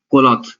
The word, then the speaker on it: Qualoth: पर अभी दूसरे टूल्स भी हैं like कोलॉथ, it's pronounce like QUALOTH।